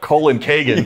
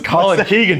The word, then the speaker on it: Colkegan: would be colon colony it's not colin kagan yeah what's that it's colin keegan daniel come on i